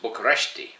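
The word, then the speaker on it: București: largely been spent in Bucharest the capital pronounced bucharesti actually uh and um on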